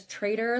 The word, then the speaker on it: Trader: Last name is Trader, like Trader Joe's.